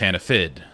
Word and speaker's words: Hannaford: And up there, Hannaford is pronounced Hannafid. F-I-D.